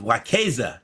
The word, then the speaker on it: Wekeza: And as request so uh uh our guest today is Miss Sabrina Lamb and she is the founder and CEO of WAZEA.